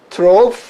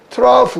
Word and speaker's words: trough: 소리가 안 났었는데 through로 소리가 안 나는데 여기는 GH가 또 소리가 나는 거예요. 이게 소리가 나는 거예요. 소리가 나서 프 발음이 난단 말이에요. 그래서 이것은 trough 이렇게 발음한단 말이에요.